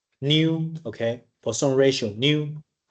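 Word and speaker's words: ν: we can give you a new how to pronounce it new okay for some ratio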